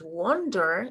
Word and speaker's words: wonder: And the pronunciation is different too, because it's wonder and the other one is wander with an A.